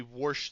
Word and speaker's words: wash: the dishes in Pittsburgh they worsh them now how you got W and decided that that should be pronunciated worsh I have no F not